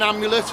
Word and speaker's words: amulet: Sorry, we've been saying it wrong. It's not annular, it's an amulet. Amulet, not an angular.